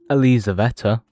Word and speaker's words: Elizaveta: Elizaveta, I think. I Google it and that's how I said it's pronounced, so that's right.